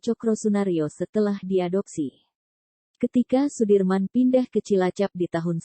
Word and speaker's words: Soedirman: dalam memperjuangkan kemerdekaan Indonesia Jenderal besar Sudirman menurut ejaan Suwandi dibaca Sudirman Ia merupakan salah satu